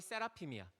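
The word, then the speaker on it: seraphim: 세라핌이라고 들어봤어? 우리 게임하는 친구들은 세라핌이라고 아는 친구들 있을 텐데, 이게 스랍의 영어 발음이 세라핌이야.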